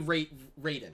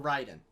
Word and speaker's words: Raiden: And obviously Raiden or Raiden. It gets pronounced both ways.